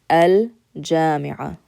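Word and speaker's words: الجامعة: The letter Jim is a letter in which you do use your tongue to pronounce, but it is considered harf qamari. It's considered a moon letter. So if I wanted to say the university, we say al-jami'a, al-jami'a.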